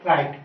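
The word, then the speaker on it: right: अगला एग्जाम्पल है friend राइट, ठीक है, RIGST, इसमें आप GH को साइलेंट करके क्या बोलोगे, केवल राइट।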